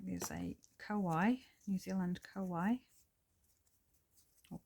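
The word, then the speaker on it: kōwhai: that would, like there's a Kauai, New Zealand Kauai, or Kowhai as it's properly, no, it's wrong colours. properly pronounced.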